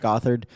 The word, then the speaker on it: Gothard: Gothard.